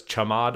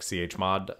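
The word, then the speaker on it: chmod: think people pronounce it some people pronounce it as cha mod I always pronounce it as like chod um but do whatever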